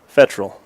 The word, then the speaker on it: Fettrell: It's not always easy, and we're making it harder than it has to be, but Fettrell. At least that's how we've been coached anyways, how to say it.